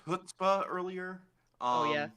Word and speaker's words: chutzpah: did you pronounce chutzpah earlier? Oh yeah, that was with the supposed to be CH, as is proper. chutzpah.